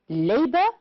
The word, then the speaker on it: labor: Which words are stressed on the first syllable? Yes, labor, moral, practice, and loyal. And the other words are stressed on the second syllable, that is, the words protect and agree.